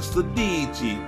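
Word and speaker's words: Sidi: When you get a pair of these boots, you gotta say it like an Italian. He's a Sadici double zipper waterproof boot.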